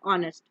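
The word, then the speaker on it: honest: इसी तरह वर्ड है ऑनेस्ट, एच जो है वो साइलेंट होता है, तो इसलिए इससे पहले हम एन लगाएंगे।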